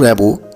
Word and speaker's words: Rimbaud: জন Nicolas আর্তুর র্যাম্বো, তো তোমরা বানানটা দেখে হয়তো মনে হবে যে এরকম উচ্চারণ কেন করছি। অ্যাকচুয়ালি উনি একজন ফ্রেঞ্চ পোয়েট, ফরাসি কবি, তো তাই উচ্চারণটা এরকম।